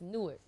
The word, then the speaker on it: Newark: kid do it yeah it's Newark I never knew how to say it I swear like 70 of my family two words okay real quick we need a lesson two seconds so it's newer yes all right got it